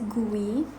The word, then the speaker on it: GUI: use of these graphical user interface or commonly pronounced as gui so to create your own quiz is easy